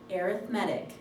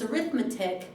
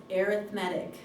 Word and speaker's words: arithmetic: and yes it's pronounced arithmetic if you're speaking about it as if it's a noun it's arithmetic if you're if you're using it as an adjective it's arithmetic okay I don't know